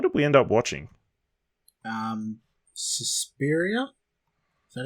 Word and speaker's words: Suspiria: Suspiria?